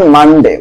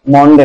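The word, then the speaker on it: Monday: অন মানডে, উচ্চারণ কি হবে? মন্ডে না, মানডে।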